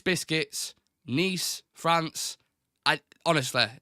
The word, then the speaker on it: Nice: you for your query nice biscuit were named after the city in the south of France and pronounced the same as that City they have been well